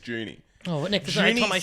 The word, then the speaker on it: Juni: is actually yeah correctly it's not Johnny it's Junie oh what next question